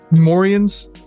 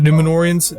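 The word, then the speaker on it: Númenóreans: Oh, and the Numorians, I said it wrong. The Numenorians, they needed they make Isildur a bitch.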